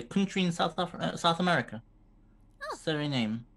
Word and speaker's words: Suriname: Suriname. How is it pronounced?